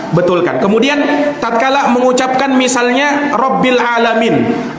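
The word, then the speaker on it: رب العالمين: alamin Alhamdulillahi robbil alamin itu pakai huruf main jangan di pajangan membacanya dengan huruf apa namanya huruf hamzah dia baca alhamdulillahirobbilalamin kalau sekilas dengan aja kayak biasa aja Gan Padahal kalau dia tidak hurufnya diganti dengan huruf hamzah bukan huruf Ain ini kesalahan besar alhamdulillahirobbilalamin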